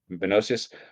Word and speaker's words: Menoeceus: And then when I read, and please again for help me if I pronounce letter to Menocius. Is that correct? The correct pronunciation? Sure. Menocius.